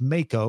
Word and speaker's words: Mako: surgical situations, Peter said, "It's pronounced Mako, like the shark.